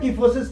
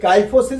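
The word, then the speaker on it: kyphosis: बैकग एंड the word कीफोसिस comes from the Greek word Keefe या काइफ सी आई पी एच के आई पी एच अब देखिए काइफोसिस भी पढ़ सकते हैं किफोसिस भी पढ़ सकते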